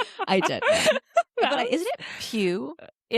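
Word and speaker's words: Pugh: Pug. Yes, I did. Is it Pew?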